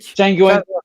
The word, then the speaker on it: Django: Django, yeah. Yeah, he had that great scene with Jamie Foxx when he says the D is silent, and he goes, I know.